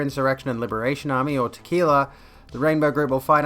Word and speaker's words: TQILA: The Queer Insurrection and Liberation Army, or TQILA, pronounced tequila, has been set up with the motto, "These F-slurs kill fascists."